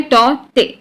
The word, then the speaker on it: Tauktae: तो ये जो साइक्लोन है टॉटे, पहला चीज, इसका प्रोनाउंसिएशन जो है वो है टॉटे, राइट, के साइलेंट है।